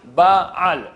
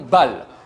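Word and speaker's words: בעל: Il faut faire attention de bien prononcer le aïn de ba'al, ba'al, et non bal. Bal signifie en hébreu qui n'a pas.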